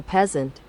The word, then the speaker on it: peasant: Consequently, the banker would not be one iota happier than his great-great-great-grandfather, the poor medieval peasant. 네, 그러면 단어 좀 보겠습니다.